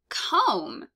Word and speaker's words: comb: we've got cat fog comb which we read pretty easily despite the fact that it has a silent B and is not comb um pint which is